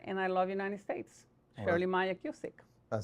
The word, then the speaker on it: Shirley Maia-Cusick: Senate from New Jersey, Shirley Maia-Cusick. And I apologize if I butchered your name.